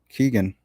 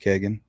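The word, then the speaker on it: Kegan: who are interviewing uh keegan and i know it's pronounced kagan um keegan basically st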